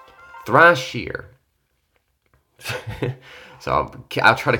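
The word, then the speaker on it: Thrasir: get me oh well Thrasher got me oh and I said it wrong actually know how to pronounce it this time it's thrush here thrush here so okay I'll try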